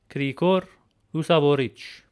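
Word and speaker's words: Գրիգոր Լուսավորիչ: But for this video, I will use the three-letter combination of tch to show the sound of this Armenian letter.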